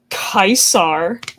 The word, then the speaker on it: Caesar: I met with Kaisar, as the Legion calls him. That is technically the correct Latin pronunciation.